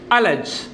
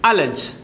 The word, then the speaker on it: allege: നമ്മളിന്ന് പഠിക്കാൻ പോകുന്ന 3ാമത്തെ വാക്കാണ് അലജ്. ശ്രദ്ധിക്കുക, ഉച്ചാരണം ശ്രദ്ധിക്കുക. ഹൗ ഡു you pronounce this? ALLEGE. ഹൗ ഡു you pronounce that? അലജ്. അലജ്.